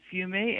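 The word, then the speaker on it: fumet: you absolutely can today in french it's called fumey f-u-m-e-t and you can boil down the broth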